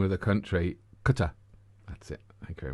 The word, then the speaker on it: Qatar: I can imagine the Qatari at the airport.